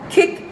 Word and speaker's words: kicked: se escribe así en el pasado, pero se pronuncia kicked, kicked.